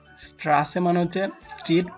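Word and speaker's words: Straße: রয়েছে এবং এটার উচ্চারণটা দুইটা এস একসাথে রাখলে যেরকম উচ্চারণ হয় সেরকমই উচ্চারণ হয়তো স্ট্রাসে স্ট্রাসে মানে হচ্ছে স্ট্রিট বা রাস্তা।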